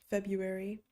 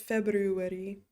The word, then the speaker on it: February: You tend to leave the first R silent in Jesse's surname. February. Yeah. No one says February unless you're Afrikaans. Then you like pronounce the R quite hard.